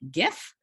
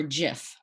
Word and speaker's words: GIF: computer days and so because graphic has that hard g uh many people i